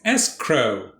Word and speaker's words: escrow: today's word is escrow two syllables the first syllable is dressed s escrow it's actually a bond